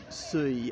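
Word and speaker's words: Sully: Okay, so, and then we've got Suy, I think it's pronounced that, S-U-L-L-Y, right above my finger there, as in the Admiral, again a Huguenot.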